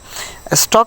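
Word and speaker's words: stalk: ওকে, দেখো এখানে রয়েছে এই যে ইংরেজিতে এমন কিছু শব্দ আছে যেখানে এল থাকা সত্ত্বেও এলের উচ্চারণ হয় না।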